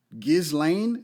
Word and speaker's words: Ghislaine: a British socialite who how do you say this Ghislaine gh is la ine just Lane Maxwell they were seen